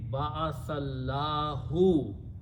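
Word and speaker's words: بعث الله: So the meaning will be Ba'athallahu. Allah appointed. Allah sent. If you misspell this thing and if you pronounce this Allah, the meaning will be he sent Allah. Completely wrong meaning, kufriya word.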